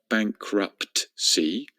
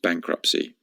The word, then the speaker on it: bankruptcy: Repeat after me, bankruptcy. Once again, there's a silent T in there at the end. It is not bankruptcy, it's just bankruptcy.